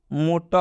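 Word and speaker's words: motor: में र दिख रहा है, लेकिन इसका शुद्ध प्रोनाउंसिएशन इस तरह होगा, मोटा होगा।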